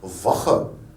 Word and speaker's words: Woche: Woche.